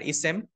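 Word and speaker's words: اسم: এটাকে আমরা আরো সংক্ষেপে বলতে পারি ইসেম, ফেল, হারফ। এভাবে বাংলাদেশের পড়ার প্রচলিত রীতি আছে। কিন্তু আরবি উচ্চারণের প্রপার উচ্চারণ হচ্ছে ইসমুন বা ইসম।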